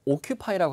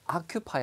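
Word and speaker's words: occupy: 중요한 단어 자의 이런 아큐 파이 발음을 5 피파 이라고 하지 말고 아큐 파이 로 가는게 좋은데 이 아큐 파이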